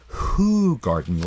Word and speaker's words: Hoegaarden: and it's h0e GAA are but it's actually pronounced hoegaarden like wh 0 0 ol not know yeah